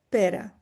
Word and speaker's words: Pere: Dice, "Y tu el nombre per en catalán se pronuncia per como la fruta."